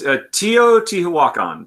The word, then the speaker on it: Teotihuacan: I'll make sure that but that's how you pronounce it? Teotihuacan? It's Teotihuacan.